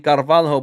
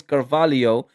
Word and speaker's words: Carvalho: This is the Carvalo that is spelled Carvalho. People were getting on to me in the last time when they were playing Chelsea cuz I kept on saying Carvalho. But guys, I know it's Carvalio.